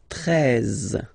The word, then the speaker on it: treize: Then now if you combine this e and e, you get the sound e, really open, treize, treize, final e, as usual, not pronounced, treize, treize, okay?